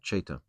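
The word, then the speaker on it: Ceta: They are Cheta Sakhas. C-E-T-A. That's how you pronounce it, Cheta.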